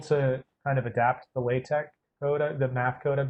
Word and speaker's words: LaTeX: LA is spelled latex, but people say it LaTeX.